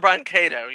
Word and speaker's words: Brancato: I hope I pronounce this right. John Brancato? John Brancato, yes.